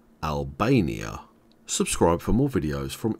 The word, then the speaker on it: Albania: Grace Kosovo Montenegro and North Macedonia and you pronounce Albania like this Al Bae ni ah Albania subscribe for more videos from English language training